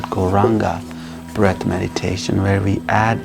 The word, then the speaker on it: Gauranga: practice that is called gauranga breath meditation where we add a mantra to our breath this holy names 12 breaths and the mantra we'll be using is gol ranga is divided into four syllables go raw simple